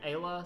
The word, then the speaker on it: Ayla: How do you pronounce her name? Ayla, something like that?